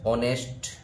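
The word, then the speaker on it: honest: इसमें ए ऑनेस्ट मैन ऑनेस्ट मैन में हम देखते हैं कि इसका जो उच्चारण होगा यह होगा ऑनेस्ट ऑनेस्ट अब यहां ऑनेस्ट में इसका प्रथम ध्वनि जो है प्रथम अक्षर की जो ध्वनि है वह एक स्वर के समान किसके समान स्वर के समान स्वर के समान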